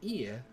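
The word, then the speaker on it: 家: When dealing with the repeated vowels, such as ie, draw out the length of the sound. It is not quite the same as repeating the vowel twice. Listen carefully to the example pronunciation.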